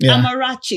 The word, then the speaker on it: Amarachi: Um, Chi-Chi Chi-Chi Amarachi is the way she pronounces her her name.